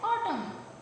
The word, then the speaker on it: autumn: लिखा है वो है ऑटम, ऑटम, AUTUMN, ऑटम, AUTUMN, ऑटम। ऑटम में जो M है वो लिखा जाता है लेकिन पढ़ा नहीं जाता, M साइलेंट है, ऑटम, सॉरी N साइलेंट है।